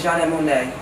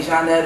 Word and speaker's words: Gianna Monet: and it is however a lot of people have a problem with pronouncing it okay so they'll say jeanette or jay nut or nut or all that okay so um probably